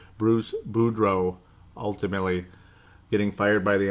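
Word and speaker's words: Boudreau: say that boo BR Buro deal it's Bruce Buro it's not that hard to pronounce it's just that they're similar and you can screw it up really easy Bruce budro ultimately getting fired by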